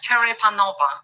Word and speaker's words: Cherepanova: yeah it's a challenge Cher panova this is the right pronunciation okay great great well